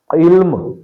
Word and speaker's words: علم: ہے، یہ ساکن ہے۔ علم کا دوسرا حرف لام ہے، یہ ساکن ہے۔ ساکن حرف کو حرکت